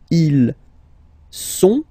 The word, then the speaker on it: ils sont: Ils sont, final T not pronounced.